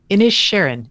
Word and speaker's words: Inisherin: It's Inisherin.